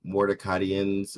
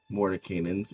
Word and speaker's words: Mordenkainen's: I don't know how to say this. I think I'm saying it wrong. Mordecaian's Magnificent Mansion. Mordenkainen's. Mordecaian's. Yep, Mordenkainen. Mordenkainen's.